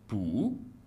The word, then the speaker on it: 不: Quand il se situe avant le quatrième ton, il change de prononciation et se prononce ainsi pu au deuxième ton.